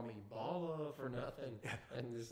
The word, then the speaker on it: Bala: She's like, yo, it's pronounced Bala.